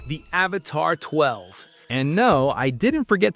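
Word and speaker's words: Avatr 12: The Avatar 12, pronounced 12, is a grand coupe that looks like it rolled off the set of Blade Runner.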